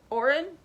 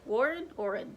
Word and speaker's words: Oren: book with Annalene and Oren. Wait, Warren? Oren. Hold on. Oren. Dang, what's his name? Oren. I was right.